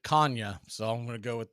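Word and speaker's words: Canha: throw by Murphy and according to Mark he pronounces it Kanye so I'm gonna go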